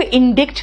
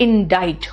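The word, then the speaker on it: indict: है अब ये बेटा यह वर्ड को इंडिक्ट नहीं करते हैं कहते हैं इसमें सी साइलेंट है और आई का प्रोनंसिएशन आई है इट is called इनडाइज what is इनडाइज ध्यान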